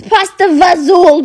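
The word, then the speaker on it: pasta e fagioli: was saying pot cheese and lastly your favorite Italian sup pasta fi that's how it's spelled no throw the spelling to the Wi it's pasta vazul baby when I posted that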